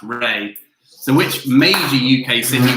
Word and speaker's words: Rea: rea so it's felt river ria but it's pronounced ray so which major uk sydney was founded in